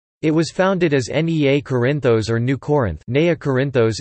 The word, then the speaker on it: Κόρινθος: Corinth, Greek, Corinthos, Corinthos, pronounced Corinthos, listen, is an ancient city and former municipality in Corinthia, Peloponnese, which is located in south-central Greece.